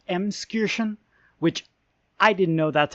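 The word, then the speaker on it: Emskirchen: in Franconia hi editing Noble here it's actually pronounced M Excursion which I didn't know that's how it's it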